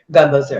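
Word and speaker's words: gumbo z'herbes: Gumbo zerbs.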